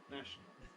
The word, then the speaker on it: national: n is nons syllabic then we get National National National National two syllables only National National or we